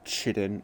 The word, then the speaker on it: chitin: Like, I guess that's kind of the same thing with chitin and chitin. Which, you know, doesn't really make sense because clearly it is spelt chit in. Chit. Chi. Tin. Not kai.